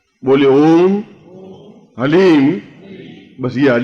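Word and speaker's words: ह्लीम: बोलिए ओम हलीम बस शब्द बहुत ध्यान से उच्चारण करने जाना एच ए एल ई ई एम हलीम कोई बोले हरीम कोई बोले ही तो कुछ फायदा नहीं होगा ह ली म हलीम ह आधा है ओम अभी बोलना ओम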